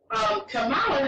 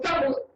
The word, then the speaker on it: Kamala: They get upset when you pronounce it the other way. What her name is? Kamala. Yes. Not Kamala, because that's the black way you say it.